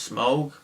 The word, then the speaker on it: Smaug: Hobbit the desolation of smog smog apparently it's pronounced smog I've been pronouncing it smog this whole time so I felt like an